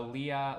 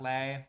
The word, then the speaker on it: Leah: So Leah, Leah, Leah. I figured it was that and not Lay, but these little kid stuff right here, the drum set and stuff, also comes from Sixum.